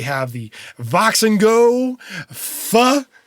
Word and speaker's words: PHA: Beyond that, they have the Vox and Go Pha. I'm going to pronounce that Pha, even though it's PHA 979.